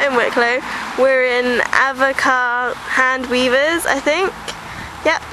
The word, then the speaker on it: Avoca: So, we also went to this place called Evoka, and it's spelled like avocado without the dough. So, we all thought it was pronounced avoca, but it wasn't. It's a voca.